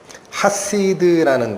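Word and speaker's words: חסיד: 이 성도라는 단어가 히브리어로는 뭐냐면 하시드라는 단어예요.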